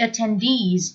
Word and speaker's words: attendee: the wedding or the attendees included maybe for example the bride and the groom's best friends attendee with the stress on the last syllable a complete answer can